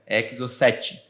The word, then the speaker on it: Exocet: Exocet. Só que chama, só que o T é mudo porque é francês.